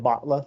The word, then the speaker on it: Batla: It's spelled Batla, Batla, but said Batla, like you bought something.